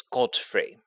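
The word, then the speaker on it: Godfrey: name the name is Godfree it is pronounced in the traditional King's English of g o d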